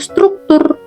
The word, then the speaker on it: struktur: Semua huruf tersebut dibaca satu persatu, tidak digabung menjadi satu bunyi. Cara pengucapannya yaitu struktur, bukan struktur atau struktur atau bunyi lainnya.